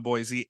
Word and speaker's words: Boise: So, um, you and I, you and I will be together in Boisey.